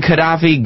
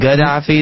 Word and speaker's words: Gaddafi: say nice I don't I've been saying Qaddafi Gaddafi didn't want to get off it yeah cuz it's spelled 150 different ways I know it's spelled all different ways but I think most people just say Qaddafi well if you're kind of spell it with the G I would say Gaddafi I used to hear moammar